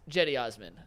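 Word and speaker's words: Cedi Osman: Number two, that CD Osman's name is pronounced Jetty Osman.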